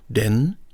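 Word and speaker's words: 電: Here we have the character for electricity with the pronunciation den, and it tells me that this character is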